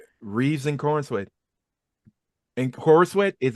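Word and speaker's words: Corenswet: And Corn Sweat is how you pronounce his last name? Corn Corn sweet, sweat. Corn- like pops. Corn Oh. sweat. Corn Sweat.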